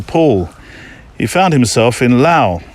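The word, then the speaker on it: Laos: he found himself in Lao you don't pronounce the S do you in La Lao is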